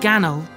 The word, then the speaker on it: Gannal: ganal process of embalming jean nicholas gnaw sometimes pronounced gannel in america and the uk is a pharmacist a